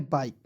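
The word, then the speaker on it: bike: आपको याद रखना है ई को साइलेंट कर लीजिएगा तो इसे पढ़ेंगे बाइक बाइक नहीं पढ़ना है इसे पढ़ना है बाइक अब इसके साथ याद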